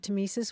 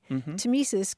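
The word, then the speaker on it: tmesis: all those things up I did want to talk about the word tesis we should spell it because it's an oddly spelled word it's TM s i s and it goes back to a Greek word that means cutting tesis goes back to Timo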